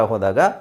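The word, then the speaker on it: who: ನಾವು ಫೋನಿಕ್ಸ್ ಪ್ರಕಾರ ಹೋದಾಗ ಎಚ್ ಓ ಇದೆ ಹ ಆಗ್ಬೇಕು ಅದು ಹಾಗಾದ್ರೆ ಇಲ್ಲಿ ಡಬ್ಲ್ಯೂ ಇದೆ ಅಲ್ವಾ ಓ ಆಗ್ಬೇಕಲ್ವಾ ಅಲ್ಲ ಸೋ ಈ ಪದ ಈ ತರದ್ದು ಹಲವಾರು ಪದಗಳು ಇದಾವೆ ಇಂಗ್ಲಿಷ್ ಅಲ್ಲಿ ಅದು ಹೇಗಿದೆ ಹಾಗೆ ಉಚ್ಚಾರಣೆ ಮಾಡಬೇಕು ಇನ್ನು ಒಂದಷ್ಟು ಪದಗಳನ್ನ ನಾವು ಫೋನಿಕ್ಸ್ ಬ್ಲೆಂಡಿಂಗ್ ಆತರ ನಾವು ಫೈಂಡ್ ಔಟ್ ಮಾಡಬಹುದು ಸೊ ಇದನ್ನ ನೀವು ಹೂ ಇದು ಹೂ ಅಂತಾನೆ ಹಾಕೊಳಿ ದೀರ್ಘ ಹೂ ಹೂ ಅಂತ ಹೇಳಬೇಕು ಡಬ್ಲ್ಯೂ ಎಚ್ ಓ ಹೂ which so which ಅಲ್ಲಿ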